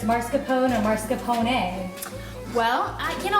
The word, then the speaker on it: mascarpone: about um pronunciation because I've always heard marscapone last mascarpone she's pronounced the way you have and then I heard you earlier